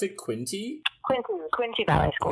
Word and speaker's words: Quinte: You are a graduate of is that how I pronounce it? Quinte Ballet School. Quinte Ballet School yes, in Belleville, Ontario.